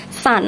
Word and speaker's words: sun: Nih, dibacanya seperti huruf A, seperti kata sun, matahari, dibaca seperti huruf A walaupun tulisannya U.